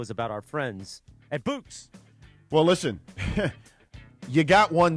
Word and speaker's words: Bouqs: This is why we go to the Bouqs company every single time. Bouqs is short for bouquets. It's spelled Bouqs.